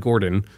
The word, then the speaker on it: Gordo: So I pronounced it Gordon. I thought it was Gordon. Gordo. Well, that's his like nickname.